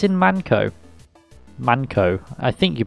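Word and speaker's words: Mann Co.: that suit one another i think it's in manco manco i think you pronounce it it should be pronounced manco yeah you're in manco almost tippity-top but not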